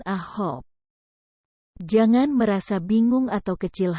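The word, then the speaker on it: 아홉: Tetapi untuk ilgop, 7, yodol, 8, dan ahop, 9, suku kata pertamanya lah yang harus Anda tekan. Jadi, cara bacanya adalah ilgop, yodol, dan ahop.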